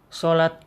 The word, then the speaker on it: salat: Sholat adalah, jadi kalau ada tulisan salat bacanya sholat, sesuai dengan bahasa Arabnya ya.